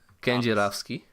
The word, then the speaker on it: Kedzierski: I'm gonna go out on a limb and say Kedzierski. No. Dominik Kedzierski. Kedzierski. That was the closest one, but not close enough. So what is it? How do you say that? Kenjirovski.